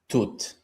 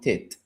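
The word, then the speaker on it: Tutu: I like Catharticus and I like Tut. I learned that it's pronounced Tut now, because in my reaction, I said, Monokate is singing the song Tit.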